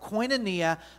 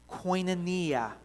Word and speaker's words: koinonia: have you say it with me again it's pronounced koinonia i want you to say it with me are you ready koinonia this word koinonia is is recorded 19 times